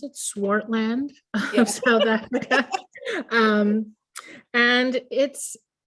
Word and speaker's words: Swartland: Is that how you pronounce it? Swartland Yeah.